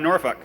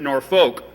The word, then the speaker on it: Norfolk: to was down in Norfolk and I'm from South Dakota originally and when you see a word like that you would spell it or pronounce it nor folk and so for the